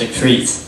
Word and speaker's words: Jakrit: k r i t it looks like crit but it's pronounced a creit do you have a